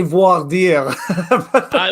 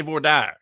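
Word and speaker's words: voir dire: in the comments section i think we say voir die well that that's that that's that's the french that's probably the proper pronunciation but in tennessee we say vordar so the uh so it depends on where you're from of course because it's latin it's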